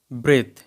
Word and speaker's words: breathe: ব্রেথ, ব্রেথ। কিন্তু এর কি দুটোর উচ্চারণ এক?